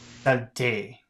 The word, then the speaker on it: saleté: Say the following words. Do not pronounce the E. So we have samedi and samedi. Samedi. Samedi. Samedi. And the next one is salté. Salté. Saleté. Salté.